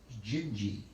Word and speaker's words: Dindi: 1960 by jobim and it's called dindi d-i-n-d-i but in portuguese they pronounce that as jinji and so that's the